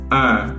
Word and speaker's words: un: Le masculin est nasal 1. C'est-à-dire que le son va voyager entre le nez et la bouche.